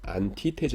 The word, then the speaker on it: Antithese: 어 , 독일어로 는 " Antithese" 입니다 . 반대 되는 것들 . 'S' 발음 이 거기서 는 'z' 소리 가 나 요 .